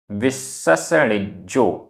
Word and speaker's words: विससणिज्जो: माया माया व होई होई विससणिज्जो आधा सा पूरा सा 2 बार, आधा जा पूरा जा।